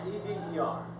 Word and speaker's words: Eder: E-D-E-R. E-D-E-R. Eder. That's how you pronounce it.